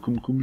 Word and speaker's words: CumCum: dans l'affaire des Cumcum, c'est Cumcum, je crois que ça se prononce, qui a également touché 5 autres banques françaises.